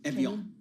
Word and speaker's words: Evian: Evian like the water.